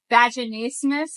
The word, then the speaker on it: vaginismus: don't think it really is a comorbidity, but vaginismus, am I saying it right?